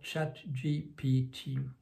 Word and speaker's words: ChatGPT: de le franciser, mais quand on le francise ça conduit à la catastrophe, donc je vais m'abstenir de le faire et je vais prononcer ça comme les concepteurs de la firme OpenAI aux États-Unis l'appelle, donc ChatGPT.